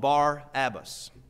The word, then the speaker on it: Barabbas: They had a notable prisoner called Barabbas. The reason I pronounce that way is I do believe that would be the correct pronunciation.